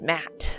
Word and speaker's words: Matt: not an inch less the names Matt the second T is silent sure sounds like an